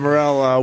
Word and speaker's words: Morril: And it's Morrill. Morril. RR? Morril. Oh, it's spelled two different That's ways what here.